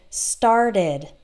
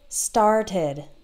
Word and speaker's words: started: We only add an extra syllable for the ED if the previous word ends in T or D. So this would be like the word started, okay? So start has one syllable in the present, and then in the past, started, started, started has two syllables, or decide, ends in